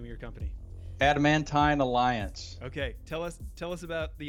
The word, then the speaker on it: Adamantine Alliance: Adamantine Alliance.